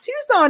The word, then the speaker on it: Tucson: uh Elanor says Tucson ah Tucson is how you say it Sabby I don't know